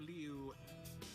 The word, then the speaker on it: Liu: And here now at the glade of Liu, I have to say, pronounce the U.